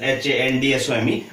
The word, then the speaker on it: handsome: Adonis was a handsome man, though it is written as H-A-N-D-S-O-M-E, but it is pronounced as handsome, D silent.